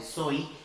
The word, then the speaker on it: soy: No final de uma palavra, como neste verbo, no caso desse verbo, soy, vai ter som de I sempre.